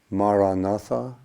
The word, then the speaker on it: Maranatha: And the word again I would recommend is the word Maranatha, Ma-ra-na-tha. Ma-ra-na-tha. So 4 syllables, equal syllables, Ma-ra-na-tha.